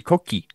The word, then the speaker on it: Koki: A nie korki. Koki.